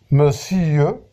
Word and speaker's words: monsieur: Par exemple, on a ici la diérèse de monsieur, le mot monsieur dans le vers 8, qu'on doit prononcer monsieur, donc ici pour accentuer la satire et la critique du personnage.